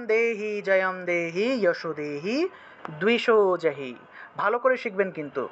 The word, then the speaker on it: দ্বিষো: জয়ম দেহি যশো দেহি দ্বিষো জহি, ঠিক আছে, দয়ের নিচে বফলা থাকলে দুও উচ্চারণ হলো, আর এই যে দয়